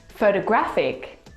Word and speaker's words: photographic: just hear photography photographer the third example photographic the stress is on the third syllable so you can hear how much influence stress has on this word family to correctly pronounce